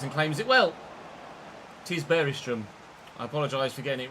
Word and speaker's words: Bergström: player was that someone mentioned about the Finnish pronunciation. Stevenson down the line for Leicester City. Bergström comes and claims it well. 'Tis Bergström.